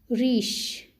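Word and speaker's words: riche: of which means our french word for this is rish in english we say it rich rich means rich s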